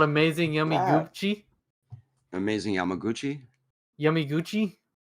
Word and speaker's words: Yamaguchi: Not with a U. It's Y A M A. Why did I say Yumaguchi? I'm saying it wrong. He's not I'm trying to correct you like it's Yama.